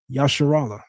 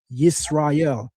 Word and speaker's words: Israel: And guess what he don't pronounce it as? Yasharallah. He literally writes in the Medu Neter, Yisrael.